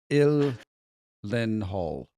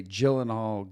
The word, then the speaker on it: Gyllenhaal: It is ill len hall. It's Swedish. I only know this because I would say Jill and all, Gyllenhaal.